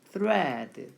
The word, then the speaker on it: thread: 번데기 발음 thread 이렇게 읽으시면 돼요. 뭐라고요? thread.